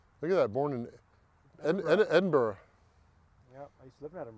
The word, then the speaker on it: Edinburgh: columbia south carolina and if i pronounce it edinboro people don't know what i'm saying talking about i have to say edinburgh but uh i played